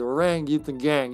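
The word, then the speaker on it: Orang-utan Gang: Orang Yutan Gang.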